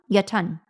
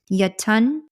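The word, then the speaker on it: Jötunn: It is so I looked up the pronunciation of this. This is a, hold on. Where is it? Yatun. I'm saying that the best way that I can, guys.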